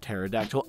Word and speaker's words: pterodactyl: that looks like a pair de Aerodactyl it's pronounced pterodactyl I watched Gravity Falls so I can say